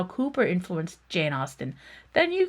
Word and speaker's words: Cowper: We know one of them William Cooper spelled C O W P R but pronounced Cooper.